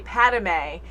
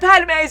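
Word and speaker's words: Padmé: a name wrong and i always say padamay and i know it's padme everyone's like it's pat but i'm just saying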